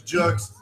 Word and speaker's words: Jux: I to be the my name is Chuck's pronounced like books with a Jake you might be an